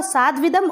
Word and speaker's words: साध्विदम: कस्मिश्चित first word है हमारा कस्मिश्चित, विचिन्त्य साध्विदम, साध्विदम इसका प्रोनाउंसिएशन तो होगा साध्विदम और इसका संधि विच्छेद करेंगे तो क्या होगा, ये साधु प्लस इदम।